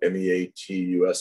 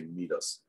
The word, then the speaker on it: meatus: the ates is called m-e-a-t-u-s it looks like meat us you want to say meet us it is pronounced meatus